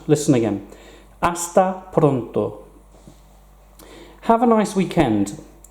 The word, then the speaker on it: hasta: hasta pronto hasta pronto we don't pronounce the H in Spanish listen again hasta pronto have a nice